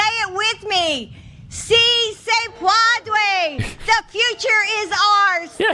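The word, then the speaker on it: Sí se puede: Also, and this gets lost in her mispronunciation of Cisa Padway. Pedboy. I can't even say it right anymore. Si se puede.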